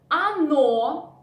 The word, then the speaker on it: оно: Оно, again, the first "o" we pronounce like "a", but the second, which is stressed, we pronounce like "o".